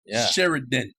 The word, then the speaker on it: Sheridan: at all be like make sure you pronounce it correctly sheriden with r in the middle this whole mess with